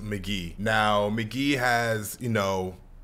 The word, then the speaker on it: Mk.gee: we finally got McGee's first album pronounced McGee now McGee has you